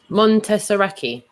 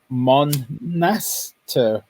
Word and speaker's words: Monastiraki: So that's Montessaraki. Monastiraki.